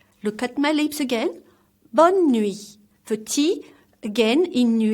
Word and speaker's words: bonne nuit: bed so let's repeat one more time together bonne nuit look at my lips again bonne nuit 30 again in new e is silent bon journée which means have a good